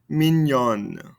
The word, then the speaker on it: mignon: this ending consonant so we double the end here mino minyon remember that that double l in french makes that yi sound are you repetitive